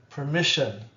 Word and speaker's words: permission: Permission, permission, shun, permission with the schwa.